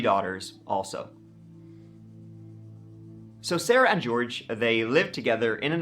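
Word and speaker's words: Jorge: with a suspended license George now by the way his name is spelled the Spanish way but it's pronounced the English way suit do not give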